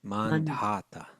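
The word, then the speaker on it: Mandhata: mandata is that how you say it yes mandata mandata beg got three sons in the womb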